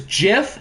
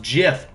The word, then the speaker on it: GIF: true it is pronounced jiff g's can make a ja sound like in giraffe giraffe starts with the letter g guys okay g's can make a j sound all right the most